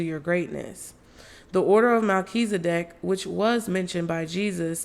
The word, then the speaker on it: Melchizedek: Oh, okay, they got a pronunciation. Thank God. Melchizedek.